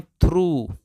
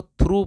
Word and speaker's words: through: अब दोस्तों OUGH, इसको पूरे को पढ़ते हैं बड़ा ऊ, यानी कि ये वाला बड़ा ऊ का साउंड देता है, तो इसको पढ़ते हैं थ्रू, यानी इस पूरे को थ्रू पढ़ते हैं।